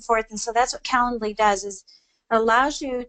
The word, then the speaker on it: Calendly: Yeah, it's Calendly. Calendly. So let me spell it here.